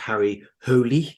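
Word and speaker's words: Harry Hole: became Harry Potter yeah within the novels it's pronounced Harry holy because it's uh Scandinavian uh I guess we'll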